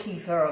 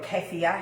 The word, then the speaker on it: kefir: is the the milk kefir or kefir however you want to pronounce it the little grain now